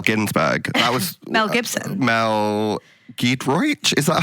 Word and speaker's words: Mel Giedroyc: Mel Giedroyc?